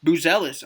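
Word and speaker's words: Buzelis: M Chicago polls um they took Matas or Mattis I believe he pronounced it in his uh his little postd draft video buellis I'm I'm happy with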